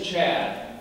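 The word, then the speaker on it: Chadd: high school he's a sophomore his name is chad i want to share with you a quick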